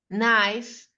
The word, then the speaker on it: knife: Erica, you are going to pronounce this group of words where there is a silent K. Okay. Okay. N. No. Knickers. Knife night needing not knock not.